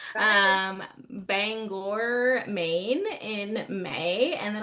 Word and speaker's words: Bangor: Um, and then I'll be at Signed with Spice up in Banger. Bangor. I always say it wrong. My Texas twang wants to be like Banger. Um, Bangor, Maine in May.